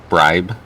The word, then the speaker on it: bribe: Bribe. Bribe. Okay. So like bride, but just with a P or B instead of the D there.